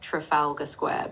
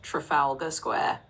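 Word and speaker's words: Trafalgar Square: It's actually pronounced Trafalga Square, but you were very close.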